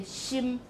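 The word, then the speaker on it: 心: For heart, we say xim, xim, but this in Mandarin would be xin, right? That would be the N final.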